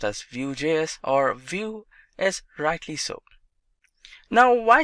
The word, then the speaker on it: Vue.js: Vue.js is commonly referred to as Vue and pronounced as Vue.js or Vue is rightly so.